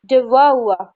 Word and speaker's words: devour: तो हमारे English pronunciation के अकॉर्डिंग ये जो वर्ड है DEVOUR, इसका करेक्ट प्रोनाउंसिएशन क्या है? डिवोur, ठीक है, हुआ, दबा हुआ, ठीक है।